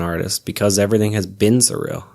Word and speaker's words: SRIL: of shorten things so it means surreal it's pronounced surreal but it's just s ril but at the